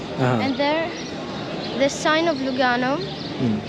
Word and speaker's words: Lugano: And there, the sign of Lugano, it's LVGA. It doesn't have any significance. It's just in the Roman, in the Latin, the V, it's pronounced U. And so they put Luga.